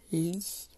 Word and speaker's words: lit: Lit, alors ça vient du mot lire. Et on dit je lis, tu lis et papa, il lit. Et là, ça s'écrit L-I-T. Le T est muet.